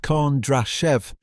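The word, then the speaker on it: Kondrashev: In Moscow, Sergey Kondrachev, pronounced K Draashev, added the press clippings to the operation gold file.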